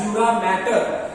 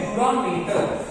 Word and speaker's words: dura mater: A lot of people will pronounce this as dura mater.